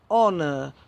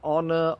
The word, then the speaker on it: honor: An honor. We don't pronounce the H on honor, honorable, and so on.